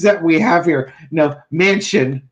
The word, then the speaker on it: Manchin: Joe Manchin was the name. Okay. I swear to God, the names that we have here. Mansion, which rhymes with mansion.